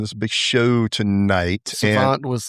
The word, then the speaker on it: SXVXNT: hip-hop and rap artist, Phonte, which is spelled much different than how it sounds. So yeah. So how you doing, Phonte?